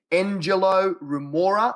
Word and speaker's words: Engelo Rumora: alternatively mate if they type in my name Angelo Remora let me spell that out e ng e l o okay